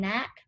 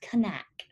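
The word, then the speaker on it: Knaack: how to pronounce that i was saying knack so but it's kanak he's from germany he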